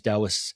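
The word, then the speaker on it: Taoists: So the the the Chinese Dowists spelled T AO is pronounced like a D. So the Dowists, right, they're really into flow and energy and all this kind of stuff.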